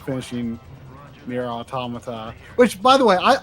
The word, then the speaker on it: automata: to try for saying automata right I don't know people are probably split on how to say that uh weirdly in Japanese it's oh otomata weirdly uh you know